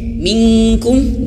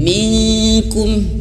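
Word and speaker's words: منكم: Suaranya ada dua pendapat ya. Nun mati bertemu kaf ini boleh ke eng, minkum, boleh juga tidak ke eng, minkum boleh.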